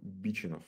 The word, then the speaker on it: Бичинов: Так, Бичинов на первое ударение. Бичинов.